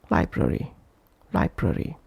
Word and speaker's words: library: For example, again, library. Br and re are not as stressed as lie.